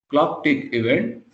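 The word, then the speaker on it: clock'event: event so this is this is pronounced as thing this is clock tick event and it returns to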